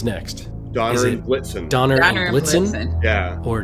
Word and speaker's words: Blitzen: Yeah, Blixen is nothing and does not rhyme with, like, it's not as good of a rhyme with Vixen as Blitzen.